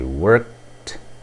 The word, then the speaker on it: worked: Então, você tem I worked yesterday. I worked yesterday. O som é o som de T.